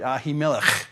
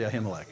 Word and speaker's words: Ahimelech: Or if you want to say it right, Ahimelech. But I can't do that too much, so I'll say Ahimelech, okay?